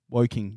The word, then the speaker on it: Woking: You did pronounce half of the word. I did? Yeah. Woking.